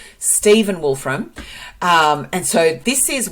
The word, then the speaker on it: Stephen Wolfram: Matt wolf from God I've been saying his name wrong Stephen Wolfram um and so this is where this has